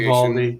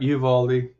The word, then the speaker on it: Uvalde: I think that's the pronunciation. Uvalde. Yep, Uvalde.